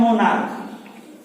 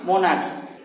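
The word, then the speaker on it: monarch: जब हम इसका प्लूरल बनाएंगे तो हो जाएगा मोनार्क्स। अब यहाँ पे हम देख रहे हैं कि CH का उच्चारण च न होकर के क हो रहा है।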